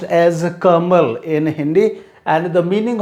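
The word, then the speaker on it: कमल: pronunciation for this hindi word and which is pronounced as a kamal in hindi and the meaning of this word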